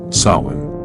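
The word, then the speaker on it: Samhain: Sawin pronounced so.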